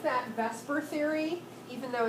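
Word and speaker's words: VSEPR: model making so we have this thing we pronounce that Vesper Theory even though it's clearly vaser we we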